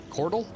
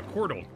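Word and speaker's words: couatl: be read but yeah i think it's pronounced c-o-u-a-t-l chordal a quartal a chordal i'd hold up to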